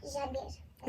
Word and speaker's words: janvier: और क्या प्रोनाउंसिएशन होता है इसका? जानवियर। ओके।